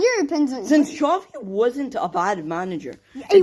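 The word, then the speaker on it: Xavi: Chavi. Chavi.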